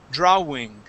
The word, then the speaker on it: drawing: and uh all right the W in the word draw okay you were saying draw drawing okay that W does not make an oo sound in this word okay it is an a okay the a w only make an a sound so the word is drawing drawing drawing good one